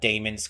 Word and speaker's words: daemons: I know it's like officially pronounced daemons, but I'm going to say demons a lot.